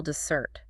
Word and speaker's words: dessert: The stress falls heavily on the second syllable, dessert.